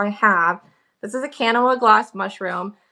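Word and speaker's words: Kanawha: I think it's actually pronounced Kana, but I think a lot of Kanawa. Yeah, I think a lot of people call it different things. Yep. We were there locally, and they're like, "It's Kana," and I was like, "Yeah, okay."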